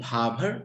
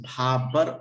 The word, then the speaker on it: Bhabhar: It is pronounced Bhabar and sometimes Bhabar also.